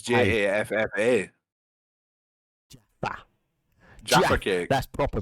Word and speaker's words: Jaffa: J-A- Jaffer. No, it's not ER. Jaffer. Is it not? No, it's Jaffa.